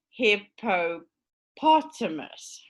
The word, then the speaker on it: hippopotamus: a five syllable word so which one do you think is the stressed syllable says john he says the second one he says no it's not actually the second one so it's hippopotamus right so this makes it